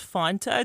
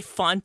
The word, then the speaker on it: Fanta: Yaffy Fanta, which some say is pronounced Fanta. Did have you ever heard that? Fanta. Only communists say that. Only communist say font.